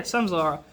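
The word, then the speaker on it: Samsara: Is it Samzara? Yeah, Samzara.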